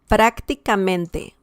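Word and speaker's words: prácticamente: means practically practically and we can see the stress here prak prak and we have one one uh two three four fifth well first second third fourth fifth to last okay so wow yes and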